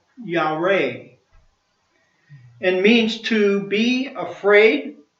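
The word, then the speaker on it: יָרֵא: The Hebrew word for fear is Y-A-R-E and is pronounced Yareh, and means to be afraid, tremble, dreadful, and moral to revere.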